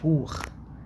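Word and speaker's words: Buch: بتاعت الانجليش، واليو والاي، او او بنتنطق خ، زي النخت، تمام، زي بوخ كتاب، ب او سي هات بوخ اللي هي بي يو سي اتش، تمام.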